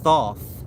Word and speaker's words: Thoth: Of course, like I said, Thoth is thought. If you're familiar with your central brain, your choroid plexus area of the central brain, this is where Thoth gets its depiction, meaning